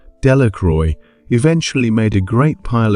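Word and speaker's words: Delacroix: Jones and Dicky Doric the villagers pronounced this name de Ro eventually made a great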